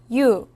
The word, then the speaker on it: 유: 유. 유는 먼저 이를 소리 내다가 바로 이어서 우를 소리 내며 발음합니다. 이와 우를 순서대로 빠르게 말해요.